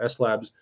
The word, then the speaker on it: S-Lab: Proper way to say S-Lab. See that? How it says S.lab, Salomon.labs.